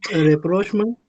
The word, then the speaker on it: rapprochement: You are near to that, but the first one is rapprochement. It's rapprochement, and the second one is bourgeois, right? Rapprochement and bourgeois, though the spellings are something different, because we mostly focus on the spelling, but it's not the case in English.